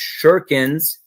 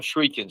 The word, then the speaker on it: shuriken: They're they're pronounced shurikens. I call them shriekens.